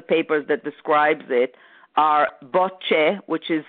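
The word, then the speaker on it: Bøttche: But if you want, the names of the authors on one of the papers that describes it are Botche, which is spelled B-O-T like Thomas, T like Thomas again,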